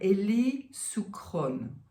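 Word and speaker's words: Eli Shukron: His name is, I write it somewhere, Eli Sucron.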